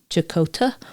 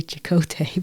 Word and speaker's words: Chakota: And I spelled out the pronunciation of Chakota because I kept wanting to say Chakotay because I watched Star Trek Voyager. And I'm like, that's not right.